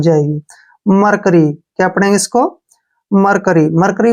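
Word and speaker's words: mercury: वाई ठीक है ना मरसरी नहीं पढ़ना हमने इसको कैसे पढ़ेंगे हम ध्यान से देखिए एम ई आर ठीक है ना एम का उच्चारण हम म करते हैं और ई आर का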